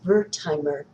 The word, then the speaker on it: Wertheimer: Number seven is Verheimer and that also is spelled with a W by the way, who formed the Gestalt School of Psychology.